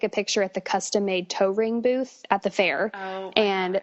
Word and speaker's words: Toering: And then Toering spelled like toe ring.